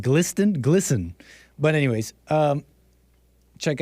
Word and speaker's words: GLSEN: organization is called glsen Gleason Gelson might as well might as well be nambola glisten oh hake knows ah it's pronounced glisten hake knows might as